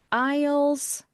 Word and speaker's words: isles: 그래서 isles, isles, S가 묵음입니다. Isles of the ocean 이렇게 하시면 되는데요.